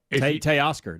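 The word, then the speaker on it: Teoscar: Tay Oscar.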